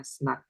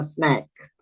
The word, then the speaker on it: snack: Kalau ada A diapit dua apa? Dua konsonan bacanya snak dibaca A snak.